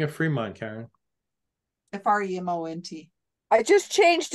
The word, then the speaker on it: Fremont: No, it's pronounced Fremont.